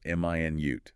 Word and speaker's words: minute: M i nute. That's the unit of time 60 seconds. Stress on the second syllable minute. That's the adjective meaning very very small tiny.